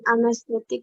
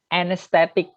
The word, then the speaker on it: anesthetic: Yang anesthetic, Sir. Anesthetic. Jadi AE-nya dibaca E. Anesthetic.